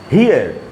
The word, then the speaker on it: hear: जैसे ये वर्ड है, देखिए HEAR, हियर का मतलब है सुनना, जिसको हम पढ़ेंगे हियर, हियर। यहां पर ऐसा नहीं हो रहा कि पहला जो वावल है उसी का उच्चारण होगा लॉन्ग वाला और दूसरा वाला साइलेंट होगा, यहां पर ऐसा नहीं हो रहा।